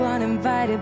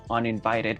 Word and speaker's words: uninvited: La palabra uninvited, para que se te haga más fácil pronunciarla, simplemente vamos a dividirla en dos partes. Uninvited. La T la vamos a pronunciar como una flap T.